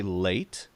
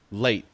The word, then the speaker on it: late: it stops so uh you could say late but you could also say late without saying the t at all and just stop it and that's very natural